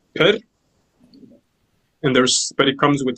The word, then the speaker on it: pr: So this is pronounced per.